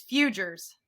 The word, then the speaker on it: Fouger: it's futures it's French we got off the boat and we butchered it all up I'm sure it's supposed to pronounced very pretty uh but we we do not it's just Futures too many vowels because